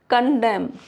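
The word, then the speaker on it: condemn: For example autumn M के बाद है तो एन साइलेंट हो जाएगा। हिम सोलेम कॉलम कंडेम N silent है।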